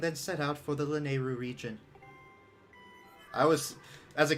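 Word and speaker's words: Lanayru: set out for the lenairu region i was as a kid i always pronounced it lanairu then i realized no that's wrong are you done uh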